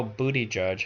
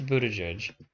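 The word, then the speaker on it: Buttigieg: the caption is literally now booty judge has been the talk of the town this wasn't an accident it's not because it's the easiest way to say his name it's Buddha judge like you can look it up I could I mean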